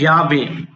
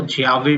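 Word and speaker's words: llave: उसके बाद आता है याबे। यावेबे भी बोल सकते हो, जियाबे भी बोल सकते हो कि यह दोनों ही सही है।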